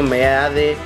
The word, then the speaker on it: Meade: Partido Revolucionario Institucional, José Antonio Meade Curibreña. A ver, no tengo nada en contra de los candidatos, pero creo que José Antonio Meade, no es Meade, se pronuncia Mead.